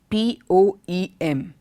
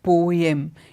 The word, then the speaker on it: poem: The next word that we normally go wrong with is in pronunciation of that word, P-O-E-M. We see many people pronounce it poem. It's not poem, though the spelling looks very similar to that. It's not poem, it is poem.